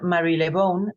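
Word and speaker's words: Marylebone: dorotea Mary Mary lebone en realidad se pronuncia Mary lebone porque es el nombre de un barrio una estación en Londres yo lo que hice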